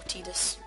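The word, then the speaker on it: Tidus: water now I know I'm probably the only person in the world who Pro who pronounces Titus or tetus pronounces name as Titus just because when I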